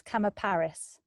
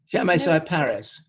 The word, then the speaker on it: Chamaecyparis: It's the creepy one, and I want to say it's Chamaparis. Chamaecyparis. Chamaecyparis? Yes, thank you. Yeah. You can, of course, be very posh and say Chamaecyparis with a silent H.